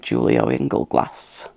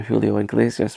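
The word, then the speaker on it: Julio Iglesias: heard of that singer julio engel glass which of course it's nothing like how you pronounce the singer julio inglesias but it's just the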